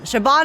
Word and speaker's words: Siobhan: Siobhan, Siobhan. Siobhan is how you pronounce it.